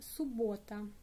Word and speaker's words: суббота: The next one, Saturday in Russian, суббота. Суббота. Stress on the o. Суббота. Суббота. In this case, in spelling, we have two letters b. Суббота, but pronounce only one.